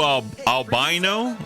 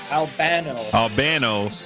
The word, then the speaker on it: Albano: So this Lou Albino? No, I said it wrong again, right? Albano.